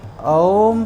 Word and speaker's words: ओम: और इसका जब हम उच्चारण करेंगे तो आ, उ और मा उच्चारण करना है। इन स्वर के उच्चारण करने के लिए सबसे पहले हम मुंह को पूरा खोलेंगे और उच्चारण करते हुए धीरे धीरे बंद करेंगे। इससे क्या होगा कि ओम का उच्चारण पूर्णतः शुद्ध रूप से होगा।